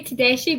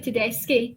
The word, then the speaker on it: Tedeschi: Yeah, most people say Tadeshi, but it's actually Tedeski. It's Italian, so it's it's actually right.